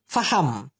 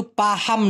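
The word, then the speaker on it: faham: ঠিক আছে, এবার এফ দিয়ে প্রথমে আমি বলতে চাচ্ছি ফাহাম। এটা কিন্তু পাহাম না, পাহাম কিন্তু হবে না, পা হাম।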